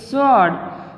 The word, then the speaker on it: sword: Sword is sword, not sword. It's sword. मतलब W is silent here.